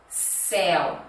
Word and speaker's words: céu: Seu, céu. Perceba que o céu, ó, eu abro mais a boca.